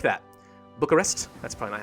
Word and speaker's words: Bucharest: University of Bucharest perfect timing I like that Bucharest that's finally how you say it alright we